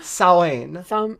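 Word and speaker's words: Samhain: Well, it's spelled Samhin, and it's pronounced like Sawen.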